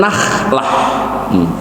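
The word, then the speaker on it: نخلة: Nahlah pakai kho itu artinya pohon kurma. Makanya hati-hati kalau ngaji, fasohahnya, mahrotnya jangan ketukar. Tadi mathalul mu'mini kamathalin nahlah, yang berikutnya mathalul mu'mini kamathalin nakhlah.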